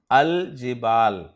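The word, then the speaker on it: الجبال: जिबाल पर जब हम अलिफ लाम दाखिल करेंगे तो लाम को पढ़ा जाएगा अल जिबाल।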